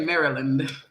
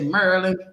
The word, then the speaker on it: Maryland: They don't say Maryland. They say Maryland.